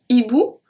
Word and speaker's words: hibou: H aspiré act as a consonant, so we do not link the words. H muet act as a voyelle, so we do link the word. So, un hibou, hibou, separate.